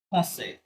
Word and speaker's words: français: আর এখানে যদি AC last letter, এই জন্য জাস্ট আই পর্যন্ত উচ্চারণ করে থামতে হবে।